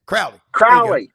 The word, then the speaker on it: Crowley: Crowley. Like Crowley's Ridge, Arkansas.